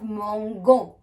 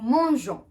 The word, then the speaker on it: mangeons: If I do not add the E to the nous form, I'll have mangon, which is not acceptable. So here we have nous mangeons.